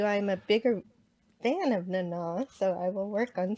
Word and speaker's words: Nana: It's pronounced Nana.